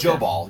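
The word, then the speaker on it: Jobal: o b a l so it's it's it's joall yeah but they're saying pronounced as joall okay that's that's how they're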